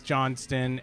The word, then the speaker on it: Johnston: I'm saying my name, right? No. It's Johnston, and so she's lying about she's a liar, and we've been over that. That's what my name sounds like.